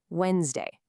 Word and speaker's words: Wednesday: Wednesday. Look at how it's spelled. See that letter D in there? Well, here's the secret. We don't say it at all. It's completely silent. So it sounds like Wednesday.